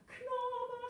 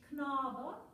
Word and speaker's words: Knabe: So when you sing it, Knabe sprach, Knabe, but it's de-emphasized. It's not the important syllable in the word. So it's the same as if we would sing something in English and said, she said the letter was. I mean, you know, don't emphasize. Knabe sprach, and lots more.